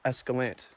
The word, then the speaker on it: Escalante: I say the word Escalante or Escalante Escalante was a Spanish guy okay but the locals say escalent and to me it seems like it should be Escalante that's a Spanish word I think that's how